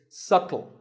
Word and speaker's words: subtle: would you say it it's subtle the b is silent subtle means something that